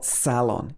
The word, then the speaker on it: salon: get my hair done or salon you can stress the first part of the word if you're in british english make can also be